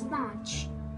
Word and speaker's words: panch: For 5, it's panch, P-A-N-C-H, N is silent.